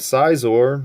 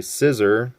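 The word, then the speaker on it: Scizor: next up we have size or a lot of people say scissor whatever however you want to pronounce his name but this is number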